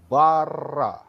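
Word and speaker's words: בר: best rest dan arles Bara ya Kalau saudara lihat ini ya perhatikan yang bagian bawah silahkan lihat kalau saudara gabung kata huruf maksud saya huruf base dan huruf refresh itu bacanya bar yang artinya adalah putra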